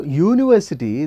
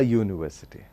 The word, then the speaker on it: university: as a university a university because it produces a consonant sound when it is pronounced y u y u it doesn't produce a